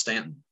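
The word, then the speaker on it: Staunton: correct one thing it's actually pronounced it's actually pronounced Stanton is it really it is you would I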